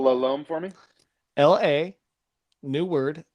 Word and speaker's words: La Lom: You spell Lalome for me? L-A, new word, L-O-M. Oh, just like it sounds. Great. And it's there's no B at the end. Not a silent B. Does not rhyme with cologne.